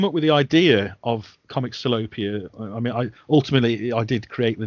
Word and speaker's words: Comics Salopia: I'm glad you said Comic Salopia, because in my head, I still wasn't 100% sure of how to pronounce Comic Salopia.